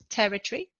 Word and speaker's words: territory: just before the end in territory the noun the stress is on the first syllable territory in territorial the adjective